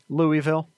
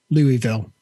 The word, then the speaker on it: Louisville: scenario yep speaking of nomad how do you pronounce this city in kentucky that starts with an l louisville louisville yes not lewis he also asks how do